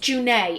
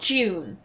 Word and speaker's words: June: of the craft so this name is actually pronounced junai it's not june which i only learned